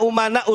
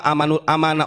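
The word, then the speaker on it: أمناء: Malik begini Al ulama umanaur rusul walaupun si Bahar Salah bacanya bukan Al ulama umanur Rasul Al ulama amanur Rasul katanya pintar goblok itu bukan pintar bukan aman u umana saya benerin ya itu yang dikajian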